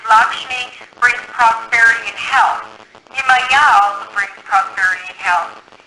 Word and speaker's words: Yemaya: If it's the ocean, her name is Yemaya. Spell it. Y-E-M-A-Y-A.